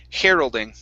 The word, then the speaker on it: heralding: good good all right let's try this word here heralding instead of hero okay hair heralding heralding very nice okay this